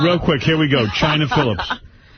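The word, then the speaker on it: Chynna Phillips: China Phillips. But China is spelled Chynna.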